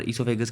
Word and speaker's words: oesophagus: इसोफेगस, यहाँ पर इसोफेगस की स्पेलिंग आपको गलत दी है, OESOPHAGUS होता है, प्रोनाउंस इसको हम ऐसे ही करते हैं।